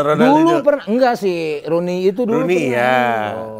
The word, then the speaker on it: Rooney: Roni mah. Yang orang Inggris. Roni salah dia. Salah. Rooney. O-nya 2. Ya Rooney Iya, bacanya. Rooney. Rooney. O-nya 2 tuh bukan jadi O gitu kan gitu.